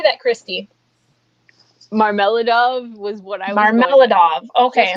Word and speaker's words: Marmeladov: now because how do you say that christy marmeladov was what i mean okay what you said yeah marmaladov okay so how does the reader feel about